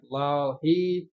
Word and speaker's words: Bilal: yeah, Bilal, is that how you pronounce it? Yeah. Yeah, Bilal.